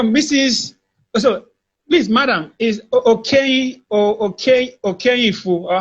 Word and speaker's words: Okeyinfu: So please, madam, is Okeyinfu, or how do you pronounce that name? Okeyinfu.